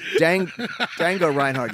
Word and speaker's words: Django Reinhardt: And she says, have you ever heard of Django Reinhardt? And I tried not to laugh. Folks, if you don't get it, it's Django Reinhardt. You don't pronounce the J.